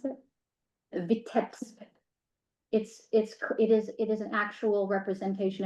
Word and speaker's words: Vitebsk: depiction of his hometown in how do I pronounce it? Vitebsk.